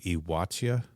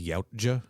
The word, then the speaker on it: Yautja: The pronunciation of that is supposed to be something close to Iwatia. All right. But every audiobook says Yautja.